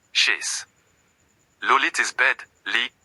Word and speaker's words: lit: Le lit is bed, lit, T is silent.